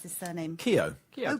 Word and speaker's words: Keogh: And also live music with Louis Ford and Rich, how do you pronounce his surname? Keogh. Keogh. Oh, Keogh, okay.